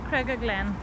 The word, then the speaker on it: Cregagh Glen: and here we are Craig Glenn it's pronounced Craig Glen let's try and go